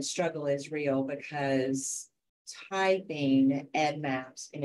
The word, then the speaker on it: EDDMapS: examples of correct usage and incorrect usage um pronunciation is another thing we um we love to hear Ed Maps um Ed Maps is something that happens a